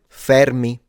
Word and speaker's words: Fermi: even the Fermi paradox, and I'm the only one who can pronounce that right, Fermi.